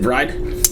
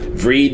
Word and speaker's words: Vreid: about dry and actually that's the way to pronounce it bride yeah yeah we were having a discussion beforehand yeah read is the way I was pronounced yeah that's